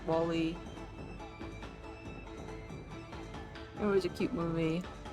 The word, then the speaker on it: WALL-E: See, if I try to pronounce wall like you would in a British English accent, then it would be Wally, which is not his name.